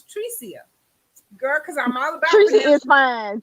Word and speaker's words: Trecia: I know we've been calling you Tracy all these years, but the correct pronunciation is Tricia. Tricia.